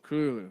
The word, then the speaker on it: Cthulhu: It is the proper pronunciation would be closer to Cthulhu. Cthulhu. All right. Okay. Fair enough. So if you're gonna say it the way humans would say it, would be Cthulhu.